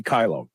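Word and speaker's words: Kailo: Biz go kylo and kylo is spelled k-a-i-l-o use the code shr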